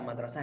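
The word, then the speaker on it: مدرسة: Jadi kata sekolah artinya madrasah. Oke, ya. Makasih, Kak. Saya tulis kata madrasah ya ini supaya tahu. Nah, ini saya tulis dulu. Mana? Saya screen. Nah, saya tulis ya kata madrasah.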